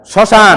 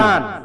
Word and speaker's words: শ্মশান: করে লেখার চেষ্টা করবেন প্রথম শব্দ উচ্চারণ করেন তো স্মরণ ম ফালা উচ্চারণ আছে নাই নাই শ্মশান শ্মশান ম ফালা উচ্চারণ আছে না স্মৃতি ম ফালা উচ্চারণ আছে না নাই তাহলে এই জাতীয় শব্দের ভিতরে ম ফালা কখনো উচ্চারণ হবে না তাহলে মোরাল কথা আমরা